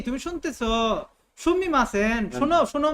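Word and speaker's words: すみません: Excuse me Sumimasen. মানে তুমি শুনতেছো excuse me তুমি শুনতেছো সুমিমাসেন শোনো শোনো মা তুমি শোনো Excuse me.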